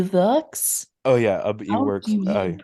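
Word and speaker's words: Iwerks: e works oh yeah e works pronounce that I works I think it's ey works yeah yeah name he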